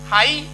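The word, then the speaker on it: high: GH कब silent है? तो GH साइलेंट आपका यदि किसी शब्द के अंत में, किसी वर्ड के लास्ट में GH या GST आएगा तो वो प्रायः साइलेंट ही रहता है। तो जैसे ब्राइट है तो BRI पढ़ा गया, T पढ़ लिया गया, GH छूट गया तो GH साइलेंट हो गया। हाई इतना पढ़ा गया, ये GH, तो इस तरीके से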